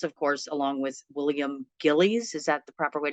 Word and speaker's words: Gillies: You wrote this, of course, along with William Gillies.